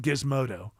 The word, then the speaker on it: Gizmodo: This is from Gizmodo. That's with the hard G.